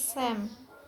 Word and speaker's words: psalms: For example, such as physic becomes psychic, and psyche becomes psyche, and psalms becomes sam.